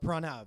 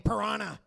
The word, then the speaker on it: Pranav: I had a lot of very interesting pronunciations of my name, of Pranav, you know? Like my teachers, they would call me Piranha. Piranha, yeah, like the fish, you know?